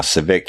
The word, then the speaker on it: Civicque: Now, Civic, y'all, is spelled Civicque.